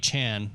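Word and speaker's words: Achane: matchups for aan um sorry aan is how he would like his name pronounced but um like forchan exactly that's that's where the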